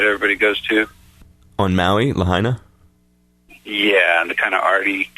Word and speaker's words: Lahaina: Lahaina?